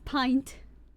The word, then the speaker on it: pint: It's pint. I'm glad you think it's cute. Long I sound.